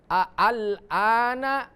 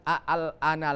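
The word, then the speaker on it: الآن: Al-ana maka dibaca bukan al-ana lagi, tapi dibaca al-an.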